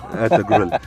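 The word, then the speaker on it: Ertuğrul: Ertugrul, like grew from bloody Despicable Me.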